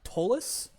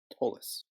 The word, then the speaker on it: Tolis: it's a weird pronunciation. It's actually Tolis. Tolis. Long O sound.